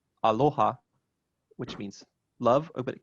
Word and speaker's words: aloha: sometimes it does right so typically uh it's penultimate as in aloha which means love but